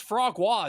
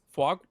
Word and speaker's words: foie gras: Foie gras. Foie. Isn't there an R in it? Nope. There's not.